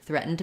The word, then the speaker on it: threatened: Um threaten me threaten I'm kind of swallowing that D got a little bit glottily a little bit back threatened me he threatened